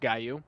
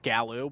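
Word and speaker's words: Gallu: The Gu, which it's I know it's pronounced Guaou. Um, look it up. I know it looks like Gallou, but it's the Guou.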